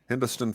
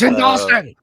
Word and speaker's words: Hindostan Falls: Any other thoughts on Hindostan Falls? I've tripped myself up in how to pronounce it.